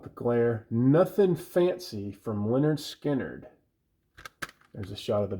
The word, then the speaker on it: Lynyrd Skynyrd: huge success of the of the debut album pronounced Leonard skinnard in 1973 and the almost as equally successful